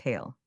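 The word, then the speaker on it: Haul: In Welsh it is Hall, pronounced Hail.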